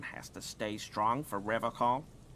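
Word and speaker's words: Revachol: But someone has to stay strong for Revocol. He pronounces Revocol with a hard K, unlike other people. You said Revocol? I like to pronounce it the hard way.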